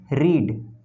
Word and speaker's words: read: भी रीड ही रहेगा, लेकिन पढ़ते हैं इसे V2 में रेड, रीड, रेड, रेड, मतलब प्रोनाउंसिएशन चेंज हो जाता है, स्पेलिंग सेम रहेंगे, V1